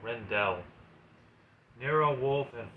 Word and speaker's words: Rendell: I think that's how you say it. Rendell. Not Randall, Rendell.